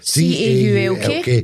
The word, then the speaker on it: caulk: C A U L K. The L is silent. It's it's And you're making it silent. You're saying The L isn't actually silent. It's caulk. You don't get um a